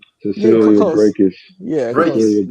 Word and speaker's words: Brækhus: Brækhus.